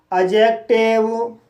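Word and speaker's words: adjective: जैसे अजॉइन, adjust, अजवर, एडजेक्टिव, अजज। तो guys in सभी वर्ड्स में डी के बाद जे आया है, इसलिए डी साइलेंट है।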